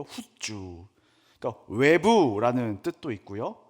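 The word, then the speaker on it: חוּצָה: 이 밖으로라는 단어를 원어로 후주라고 발음하는데요. 후주.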